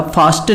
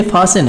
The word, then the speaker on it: fasten: तो आप देखेंगे OFTEN में यहाँ पर हमने देखा क्या, टी साइलेंट था। FASTEN में हमने देखा क्या, टी साइलेंट था। फास्टन नहीं, ये फासन है।